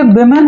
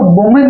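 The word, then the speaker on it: women: ही एक प्लूरल है, इसको वुमेन नहीं पढ़ते, इसको विमेन पढ़ते हैं। आप ध्यान रखिएगा, इसका प्रोनाउंसिएशन क्या होगा, विमेन, राइट, इसका प्रोनाउंसिएशन क्या होगा, विमेन, ना कि वुमेन।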